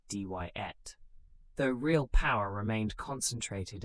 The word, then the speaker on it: Diet: It established an elected parliament called the Diet, pronounced Dyet, though real power remained concentrated in the hands of a small group of leaders.